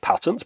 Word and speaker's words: patent: plate on the back i'm pronouncing it patent because it's a us device and it's a us patent in fact there's loads